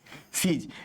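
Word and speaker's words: cease: एस ई आई जेड ई सीज। यहां सी ई एस ई सीज। दोनों same pronunciation.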